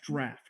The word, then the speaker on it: draft: it's pronounced draft. Oh, draft. It's not drought.